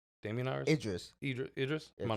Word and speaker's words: Idris: Damon Iris, that's his name, right? Damien Iris? Idris.